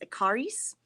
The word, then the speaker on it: Ekarius: This is called the Fleece and Fiber Sourcebook by Deb Robson and Carol, I think her last name is pronounced Ekarius.